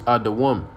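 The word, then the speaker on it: אדום: And how you say it in Hebrew is Adawam.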